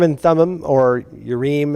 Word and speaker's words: Urim: High priest built into the ephod is the Urim and Thummim, or Urim. And if you see I am in a Hebrew word, it really is im typically. But most people just pronounce Urim and Thummim.